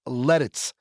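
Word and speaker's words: Lititz: E Tit TZ and it's pronounced like lettuce. It's lettuce.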